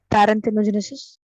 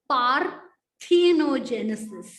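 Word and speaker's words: parthenogenesis: read the word again parent hemogenesis it is par thinogenesis okay yes okay now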